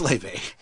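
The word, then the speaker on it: Laufey: interesting one it's it's Le brother Le now I think it's called I think it's Le because it it's it's spelled like ly huh l a u f y so when I asked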